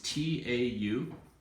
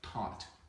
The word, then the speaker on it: taught: Okay, first word spelling is T-A-U-G-H-T. Thought. No. Thought. No, that's thought would be think and thought. Taught. Thought. Taught. Thought. That's better.